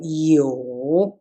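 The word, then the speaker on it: 有: have tones here so it's a curve it's a third tone so you not you never never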